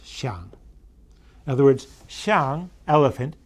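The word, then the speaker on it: 象: And on the right, you see at the top that same word in modern writing, pronounced xiang, which is used to mean elephant and to mean ivory.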